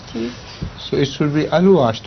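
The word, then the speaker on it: Alouache: Alush or Aluash? Aluash. After O you have another A? Yes. Then the That's- A. that's Yes. right. Yes. So it should be Aluash, not Alwash.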